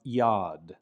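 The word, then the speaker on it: יד: Yud makes a Y sound, like in the word for hand, which is pronounced yad, yad.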